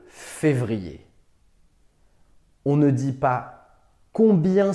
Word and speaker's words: février: niveau de la langue attention à la prononciation on dit le mois de février on ne dit pas